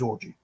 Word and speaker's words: Orji: Yes, his last name's Orgy. It's spelled Orji.